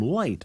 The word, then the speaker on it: light: Let's turn some light on the subject. Light is another word with a silent GH.